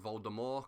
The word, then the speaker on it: Voldemort: thrones was intj lord voldemort or if you want to pronounce his name correctly lord voldemort because he's french basically and said there's a silent t at the end i think tywin lannister